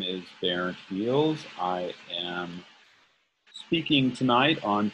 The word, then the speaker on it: Beals: My last name is Dutch name, Beals. In its Dutch context, it is pronounced Geels.